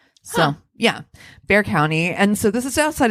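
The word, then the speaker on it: Bexar County: this is outside of San Antonio so it's Bear County it's pronounced bear apparently but it's spelled b x a r so yeah Bear County and so this is outside of San Antonio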